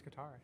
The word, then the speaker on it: Qatar: They held the the World Cup in Qar in 2020 or Cutter. I don't know how you say it. I think it's Qatar.